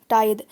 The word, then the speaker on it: tithe: Spelling देख लीजिए इसकी क्या है, TITHE, टाइद। इसे टीथे भी कहा जाता है, टीथे भी बोल सकते हैं आप इसे, या टाइद भी, आप कुछ भी लिख